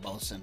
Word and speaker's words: boatswain: I take issue with the word bosun, by the way. Why? Because it's spelled boatswain, and people say fucking the other thing, and it makes me so angry.